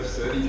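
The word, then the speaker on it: Serde: This is where SERDI comes in, and yes, that is how it's supposed to be pronounced apparently, along with all its companion crates for specific formats.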